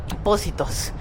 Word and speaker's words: Positos: We pronounce it as S. So positos.